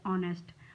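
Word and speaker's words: honest: एन और ठीक है यहां पर एच साइलेंट है और और बोला जा रहा है ट्स वई एन आर्टिकल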